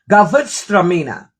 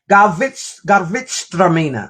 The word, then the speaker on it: Gewürztraminer: It's Gewürztraminer. That's the name of this. Gewürztraminer. I'll play it again. Gewürztraminer.